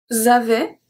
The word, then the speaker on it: avaient: Because we don't pronounce anything after AI, so we don't pronounce the S, we don't pronounce the T, and then we don't pronounce ENT.